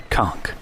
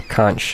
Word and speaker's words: Conch: small Port Town of conch conk or conch if you prefer to pronounce it that way conch uh I